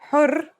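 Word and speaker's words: حر: For example, here are two words that have the same letters but are pronounced differently and have different meanings because of the difference in vowelling. Har means hot, while hur means free.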